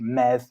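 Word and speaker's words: medd: the old Welsh meth modern-day Welsh Mev which is spelled me Double D and Breton Mez so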